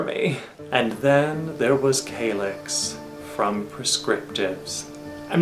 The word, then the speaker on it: Calyx: I'm not even kidding, I once had a woman try to correct me, and she like made this big show of it and said, "It's pronounced Salish!" Like, wherever you are, lady, you're still wrong.